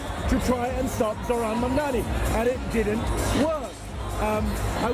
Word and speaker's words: Mamdani: When Elon Musk called him Mum-Doomy today, he tweeted Mum-Doomy.